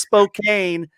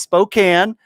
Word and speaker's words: Spokane: nice to see that no it's not pronounced Spokane uh no it's Spokane but so anyway um